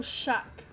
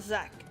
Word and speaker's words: Shaktaral: Oh, Shak. And not Zach.